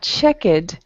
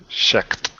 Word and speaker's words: checked: um okay no not checked okay remember it's pronounced like a t checked right okay and the